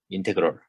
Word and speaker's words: 인테그럴: 그래서 얘를 인테그랄이라고 읽습니다. 인테그럴. 적분을 이렇게 읽어요.